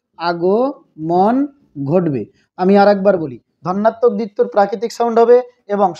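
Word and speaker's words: ধ্বন্যাত্মক: ধন্যাত্মক দ্বিত্ব উচ্চারণটা কিন্তু ধনাত্মক নয়, ধন্যাত্মক। আরেকবার বলি, ধন্যাত্মক।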